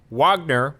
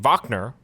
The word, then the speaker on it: Wagner: communicate not only does Wagner wack Wagner Wagner wack Wacker that's not how they're pronouncing it vogner vogner not only does vogner need